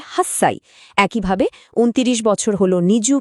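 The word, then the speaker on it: 八歳: তবে কিছু সংখ্যার ক্ষেত্রে উচ্চারণটা একটু বদলে যায়। যেমন আট বছর কিন্তু হাঁচি সাই নয় বরং এটাকে বলে হাসসাই।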